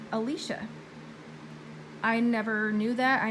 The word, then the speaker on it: Elisha: but she said that she always pronounced Elijah like Elijah as well but she says that she was corrected that it's actually Alesha I never knew that